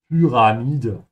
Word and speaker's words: Pyramide: Die Pyramide is feminine because it ends with an E, and make sure to pronounce the Y like a soft U with umlaut. So Py and not P, yeah, or Pi. Pyramide. The blind pyramid.